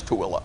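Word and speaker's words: Tooele: he doesn't even know how to pronounce tooilla Thule right he's going to say Thule Utah Secretary of the FDA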